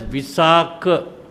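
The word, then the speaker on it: Visākha: When it is the male name, you pronounce it as visak.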